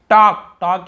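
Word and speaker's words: talk: टॉक यानी बात करना, यहाँ पर भी एल साइलेंट है, टॉल्क नहीं पढ़ेंगे, टॉक यानी बात करना।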